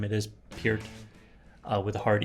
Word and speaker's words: Peart: sorry for mispronouncing his name. It is Peart with a hard E.